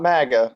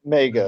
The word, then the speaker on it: Mega: You just call it Mega, not MAGA. Mega.